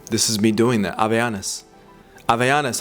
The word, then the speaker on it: Havaianas: Havaianas. Havaianas, how am I doing, folks? All my Brazilians, Havaianas. Havaianas. Not Havaianas. I guess unless you're in, you know, the US or Australia or Europe, English-speaking places.